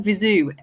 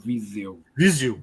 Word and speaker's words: Viseu: You actually, when you pronounce Viseu, you don't expire through your nose. You do all through the mouth.